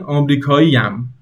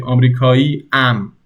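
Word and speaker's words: آمریکایی‌ام: But you would pronounce it like this, like they are connected, not separate. Because if you wanted to say it like they're separate, you would say Amerikai am. That sounds weird. You have to connect it. You have to say Amerikaiyam.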